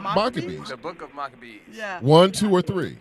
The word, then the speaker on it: Maccabees: so if anybody's wondering honeybees in america we pronounce the book of maccabees right yeah uh it's